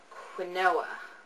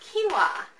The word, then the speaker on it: quinoa: and my favorite whole grain is one called quoa is that how you say that quoa no it's actually pronounced quinoa quinoa is my favorite whole grain this is